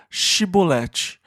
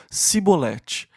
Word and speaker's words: chibolete: somos efraimitas eles falavam diga chibolete e os homens de frente não conseguiam pronunciar o CH e diziam simbolete e desta forma eles